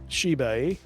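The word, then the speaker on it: Qanba: It starts with a Q, but I believe it's pronounced Shi or Chai. Shi. Okay. Shibe. It's like Q-U. Oh, jeez. Q-A-N-B-A. Q-A-N-B-A. All right. That's the name of the company. But you pronounce it Shibe.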